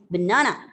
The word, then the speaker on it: banana: So in the word banana is banana. Even the first b and na. You're not saying banana.